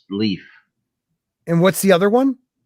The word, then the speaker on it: Lif: L-I-F, but it's pronounced Leaf.